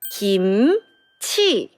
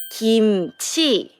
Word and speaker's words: 김치: Kimchi in Korean, it's 김치. Can you hear a good sound here? Right, it's 김. 김. 그, 이, Put them all together, it sound 김.